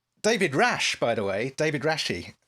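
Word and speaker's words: David Rasche: rash by the way david rashi is that's how you pronounce it i think david rashi stars briefly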